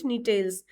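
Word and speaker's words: Gnetales: जी is silent नीटेल्स।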